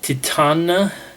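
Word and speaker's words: Titane: But the pronunciation on the YouTube video was Titana, so I guess that's how you pronounce it.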